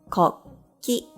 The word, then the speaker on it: こっき: Kokki, that means a national flag.